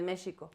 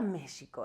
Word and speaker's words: México: México es, yo sé la en la lengua la X se pronunciaba en muchas ocasiones como sh, ¿no? Con el sonido de sh. Entonces se decía México.